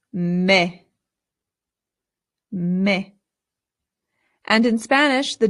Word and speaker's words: me: Now this word is not me. In Spanish the e always makes the sound e. So this word becomes me.